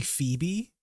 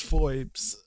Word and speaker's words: Foes: So, for the longest time, I thought to pronounce her name it was Phoebe, but it was actually how it's spelled, which is foes.